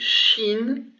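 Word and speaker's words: شين: pronounced s and the second one is called sheen and it's pronounced sh so these are easy to pronounce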